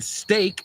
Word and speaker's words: stake: Y en ese caso, ambos son stake, S-T-A-K-E, no steak, S-T-E-A-K, aunque ya hemos visto ayer que se pronuncian exactamente igual.